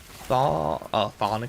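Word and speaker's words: chthonic: a pretty silly but it's pronounced th thonic Fisher yeah I like I like the C uh several people have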